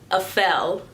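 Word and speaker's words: Apfel: I believe her last name is pronounced Afel. Iris Afel is what I'm going to call her right now.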